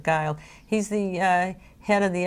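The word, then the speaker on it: Guild: is doing Scott Geils even though it's spelled GUI LD he pronounces of guile so we pronounce of guile he's the head of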